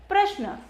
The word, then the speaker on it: प्रश्न: इसीलिए प का उच्चारण क्या हो रहा है, छोटा हो रहा है, और र का उच्चारण लंबा हो रहा है। तो हम बोलेंगे प्रश्न, तो प का उच्चारण जो है कम हो रहा है और र लंबा खिंच रहा है।